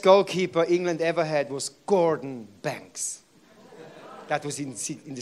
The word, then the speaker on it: Gordon: my of my name Gordon and in the Swiss pronounced it in a very silly garden God forgive the Swiss